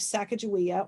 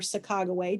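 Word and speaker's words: Sacagawea: sharbono whose Indian wife sakaia or saga depending on where you're from depends on how you um pronounce her name Will Travel and be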